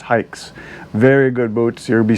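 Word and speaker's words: Haix: company and it is it is spelled h-a-i-x it's pronounced hikes very good boots you'll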